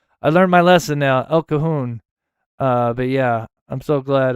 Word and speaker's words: El Cajon: Oh, I'm so glad I'm not the only one that couldn't mispronounce that. El Cajon. I learned my lesson now. El Cajon.